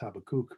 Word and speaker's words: Habakkuk: and in the prophet habakkuk although my hebrew teacher told me in hebrew it's pronounced habakkuk but we won't worry